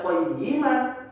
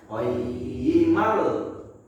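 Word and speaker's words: قَيِّمًا: Kita nggak baca qayyiman, tapi kita bacanya qayyimal. Qayyimal, ya.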